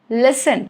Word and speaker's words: listen: Letter T. Rule number 1, it is silent in words ending in S-T-E-N, sten. For example, listen, okay, S-T-E-N, fasten.